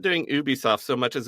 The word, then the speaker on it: Ubisoft: oh it's just doing Ubisoft and I will pronounce it Ubisoft not Ubisoft because they say a Ubisoft original on them not an Ubisoft original and I hate that